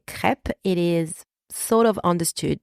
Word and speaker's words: crêpe: go back to pronunciation and let's deconstruct the pronunciation of the word crep I will break it down for you all right so repeat after me crep crep all right so let's start with the letter